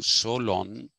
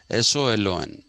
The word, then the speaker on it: Solon: some people say solon some people say so long i think it is so long because greeks have a tendency to drag the word the last syllables they dragged them okay so this is